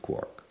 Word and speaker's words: quark: But if quart is one of the multiple origins, then you would be entitled to pronounce it quark.